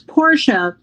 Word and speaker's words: Portia: name i apologize oh it's porsche pronounced like the car i never drove or could afford when i did drive gotcha thank you rtia the shakespeare porsche portia okay thank you thank you